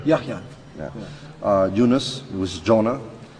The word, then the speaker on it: Yahya: Yahya. Yahya.